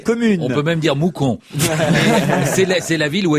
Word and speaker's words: Mouscron: mousron donc en Belgique dont on ne prononce pas le S on en a parlé